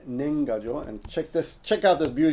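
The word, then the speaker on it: 年賀状: goofy Noise Okay so that word is called nengajo and check this check out this beauty of this oops no uh nenga Jo yes check it out right so nenga Jo is pronounced nenga Jo and that's New Year's cards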